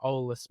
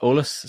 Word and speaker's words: Eolas: Yeah, pronounced Olus. So, if you if you imagine just drop the E and then olus, that's the easiest way to think about how to say it.